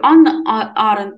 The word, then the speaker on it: Ханна Арендт: так говорил и еще знаете этот иногда говорю Анна Аарон потому что первая буква во французском читается мне уже немножко на французский манер происходит принимать это как